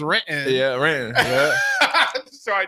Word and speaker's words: Renton: Renton is the only the correct way to say Renton is Renton.